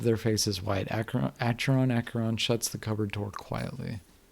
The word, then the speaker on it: Acheron: was the name sorry i probably have been pronouncing it completely wrong oh after okay akaron is the is the river in hades gotcha